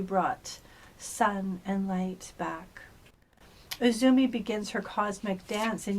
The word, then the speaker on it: Uzume: goddess Oracle is laughter so Izumi pronounced uzume ancient Japan's Shaman goddess